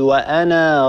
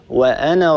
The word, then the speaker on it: وأنا: هذه علامة على أن هذا الألف لا ينطق في حالة الوصل لا نقول وأنا ربكم الصواب أن نقول وأنا ربكم هكذا نعم واصلي إن هذه